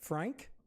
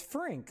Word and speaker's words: Frink: So is it pronounced Frank? Like Frank? Because I know that still sounds like Frank. Or is it like I originally thought, Frink? You pronounce the I differently. Ah. So it's Frink, like I originally said,